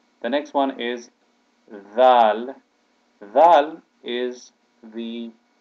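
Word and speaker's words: ذال: next one is Val Val is the letter then there when we say the word there or the word the that is how this letter is pronounced the Val it has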